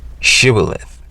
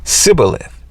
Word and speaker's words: shibboleth: If the man said, no, I'm not, they would tell him to say Shibboleth. If he was from Ephraim, he would say Sibboleth, because people from Ephraim cannot pronounce the word correctly.